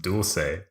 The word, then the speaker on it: dulce: people who say dulce de leche. Dulce de leche. Yeah. How should you say it? It's spelled and pronounced dulce. Oh, yeah. Because it's a Latin American treat. It's not Italian.